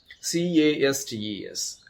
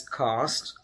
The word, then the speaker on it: castes: also forget the cause c-a-s-t-e-s so the british pronunciation is cost and american variant is cast so we say cost